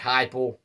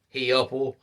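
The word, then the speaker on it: Heupel: with the system that Josh heipel runs or as I call him Josh He upel because of the way it is spelled with the system he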